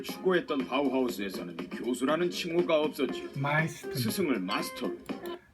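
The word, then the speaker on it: Meister: 마이스터. 스승을 마스터로. 마스터라는데 지금 이건 영어식 발음이고 우리 독일어식으로 하면 마이스터죠.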